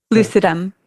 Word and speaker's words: lucidum: So I'm sorry how do you pronounce is it lucidum? Lucidumm.